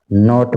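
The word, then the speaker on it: knot: है अगला वर्ड है फिथ नंबर का नॉट नोट में के साइलेंट रहता है इसको बोलेंगे नाइफ और इसको बोलेंगे नॉट सेवंथ सेवन वर्ड है सल्ड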